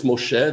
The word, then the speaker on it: Moshe: It's not Moishe, it's Moshe, the Hebrew pronunciation, not the Yiddish, right?